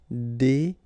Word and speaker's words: déguiser: Remember when you got this G, U, and I, it will give you this G sound. G. Okay? Déguiser.